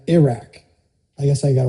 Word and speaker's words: Iraq: Now, I was I was tried to somebody tried to coach me into pronouncing Iran and Iraq the same way that I would pronounce Italy. So, Iran, Iraq, I guess I got to work on that.